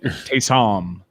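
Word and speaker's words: Ty'Son: It's pronounced the way that Stugatz pronounces Taysom Hill's name. Right. Taysom.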